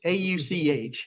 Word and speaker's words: Auch: It's Auch.